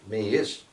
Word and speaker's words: Miish: It's called, Miish is the name for it, and it rhymes with Miwish, meaning newly arrived, and that's what we're going to see with him.